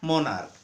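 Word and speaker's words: monarch: अगर CH का उच्चारण क्या हो? का हो। जैसे क्या? मोनार्क।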